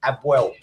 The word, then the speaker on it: APOEL: Apoel Nicosia. Yeah, Abwell is pronounced. My missus is a bubble. It's pronounced Abwell. The P is pronounced like a B. So you say Abwell.